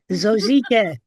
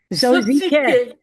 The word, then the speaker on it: Zosike: Zosike. Zosike. Like Suzuki.